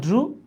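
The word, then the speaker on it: drew: বিশ্বাস না হলে এখনই ডিকশনারিতে দেখতে পারেন, এটার উচ্চারণ হচ্ছে ড্রু, এইটার উচ্চারণ হচ্ছে ফ্লু।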